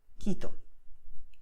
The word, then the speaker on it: Quito: So what you have here, Caracas, Colombia, Cuba, Querétaro, Quito, all right? So sound K all the time.